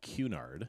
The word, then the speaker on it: Cunard: So think about a Qball.